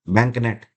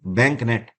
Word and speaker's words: BAANKNET: तो इसका नाम है बैंकनेट। क्या नाम है? बैंकनेट। ये मत समझिएगा यहाँ पर स्पेलिंग गलत है, यही स्पेलिंग है इसकी, बैंकनेट।